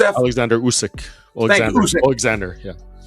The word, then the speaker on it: Oleksandr Usyk: Oleksandr Usyk.